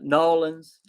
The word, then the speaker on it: New Orleans: had the rumors of fallout new orleans uh nawlins as my wife says she's from biloxi mississippi so she can say it right uh i would love